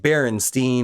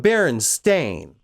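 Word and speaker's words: Berenstain: I know those bears are named Baronstein or Baronstein, not Baron Stain.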